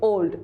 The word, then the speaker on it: Ould: Discovery written by whom Herman old we pronounce it as old Harman old remember this because I